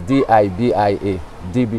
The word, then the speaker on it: Dibia: And most persons, when they hear Dibia, they would spell it D-E-B-I-A, they would pronounce the E, you know, but it's D-I-B-I-A, Dibia, yeah.